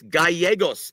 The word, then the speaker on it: Gallegos: Dude, it's Gallegos, Eddie. Look, win in Rome, brother. pronounce the names properly, and maybe you'll get a victory over him.